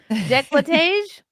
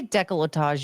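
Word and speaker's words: décolletage: I like that you say it wrong on purpose now. Decolage. I say decolletage usually. Decolage. It sounds dumb that way.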